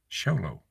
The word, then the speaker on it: Show Low: So, yeah, guys, we got to really, did you say, it's spelled SHOW space LOW. Show low. That's how it's spelled.